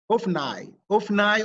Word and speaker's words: Hophni: Hophni or Hophni is correct.